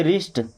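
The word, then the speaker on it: wrist: अगर आप केवल इतना समझ गए कि डब्ल्यू के बाद आर आने पर डब्ल्यू गया तो फिर तो आसान हो जाएगा। आर आई एस टी क्या पढ़ेंगे? रिस्ट।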